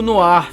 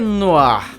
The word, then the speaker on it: noir: um nó no ir ninguém sabe como se pronuncia né não há no ar o mistério resolvido e o que essa palavra significa no ar é um gênero cinematográfico que surgiu nos anos 40 essa expressão filme noir inclusive foi dada por um crítico de cinema francês chamado no frank então é por isso que a pronúncia assim ela vem do francês esse gênero no arco